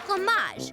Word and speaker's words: fromage: It's pronounced fromage, with the R in the back of the throat.